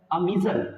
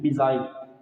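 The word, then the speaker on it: missile: Last में student example है अमीजल, ठीक है, मोस्टली कहते हैं मिसाइल। तो स्टूडेंट इसकी जो प्रोनाउंसिएशन होती है वो होती है अमीजल, ठीक है।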